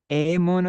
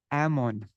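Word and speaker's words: এমন: But you'll hear many Bengalis, they won't say Emana Durmati, they won't go they'd go Amon Durmati. Like in hat and cat, Amon Emana Durmati Sangsara Bhitore.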